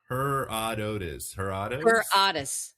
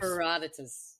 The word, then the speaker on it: Herodotus: Herodotus. Herodotus. Not Herodotus, but Herodotus. Herodotus.